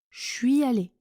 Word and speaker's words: je suis allé: Je suis allé se prononce je suis allé, je suis allé. Oui, attention, le son change complètement. Je suis allé avec le son ch de chocolat. La semaine dernière, je suis allé dans un château abandonné.